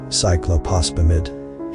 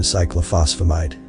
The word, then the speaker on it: cyclophosphamide: Cyclophosphamide, he said, nervous. Close, the 2-legged one said. The 2 characters here, when together, sound like F, and that one at the end there alters the sound.